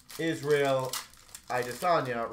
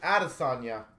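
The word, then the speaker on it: Israel Adesanya: that may be thinking i'm saying israel i desonia wrong i recently learned that like a lot of months ago but i always used to pronounce it adasanya and it i was incorrect on that luminance of mcgregor connor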